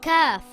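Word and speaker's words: كاف: This letter is called Kaf. Kaf is a light letter and should not be pronounced heavy. Kaf makes a similar sound in English to the letter K in the word kitten or the word kangaroo.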